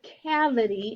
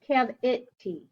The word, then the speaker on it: cavity: If you have a cavity in one of your teeth, cav-it-t. It's not cav-I-tie or cav-I-t. It's cav-it-t.